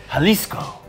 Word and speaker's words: Jalisco: I think the J is silent, Kyle. Jalisco.